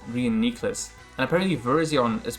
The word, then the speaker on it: Reuniclus: that are mispronounced and apparently reuniclus is actually pronounced reunicus okay we get the call right we didn't psychic and we take out this gravity it's actually pronounced reunicus and apparently version is pronounced verizon like bro